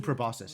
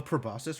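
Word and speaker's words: proboscis: In the middle of a probosus run. Nice. Is that C actually pronounced? Wait, wait. How do you pronounce this word? Probosus. Both are valid. Both soft sea and hard sea are valid.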